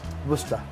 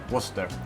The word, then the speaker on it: Worcester: do you wer Worster yeah how do you pronounce it Worster Worster yeah that's it yeah wor the sauce it's